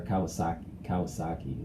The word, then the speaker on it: Kawasaki: But with Kawasaki, or Kawasaki is how it's pronounced.